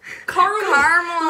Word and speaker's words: caramel: no not caramel caramel caramel little lesson little english lesson for you americans caramel it is pronounced caramel when you say caramel you are missing out a letter we made the language